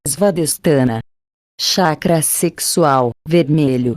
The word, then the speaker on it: Svadhisthana: Chakra sexual, pronúncia-se Svadhisthana, localizado no cóccix, base da coluna vertebral.